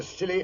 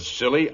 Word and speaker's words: Scilly: Year's Eve off the Silly Isles. The Silly Isles? That sounds appropriate, doctor. The name of these particular islands is spelled S C I L L Y.